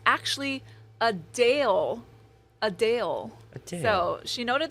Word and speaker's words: Adele: all these years so while many pronounce it like I just said Adele the singer says it's actually a Dale a Dale so she